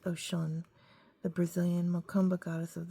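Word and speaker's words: Oshun: Mythology, pronounced Oshan, the Brazilian Mumba goddess of the waters, streams, brooks, but she is actually deeper than Brazil.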